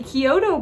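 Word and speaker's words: Chiodo: It was directed by the Kyoto brothers, Stephen Kyoto, actually, so... Isn't that the restaurant you like, Kyoto's? Kyoto's, yes, pronounced the same, yeah.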